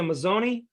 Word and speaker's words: Mazzone: So you don't pronounce the E like that.